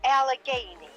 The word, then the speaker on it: Allegheny: what's how do you say ellie amy ellie allegheny yeah yes i was trying to find some